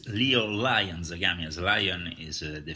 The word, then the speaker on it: Lyon: Yes, it's LYON Zagami. As Lion is the family comes from Scotland, of Lord and Lady Slatmore, the famous castle of Glamis. So the pronunciation is obviously Lion.